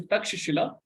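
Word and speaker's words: Taxila: South America yes which in English is spelled a spatula but it's the word is takshila which is a modern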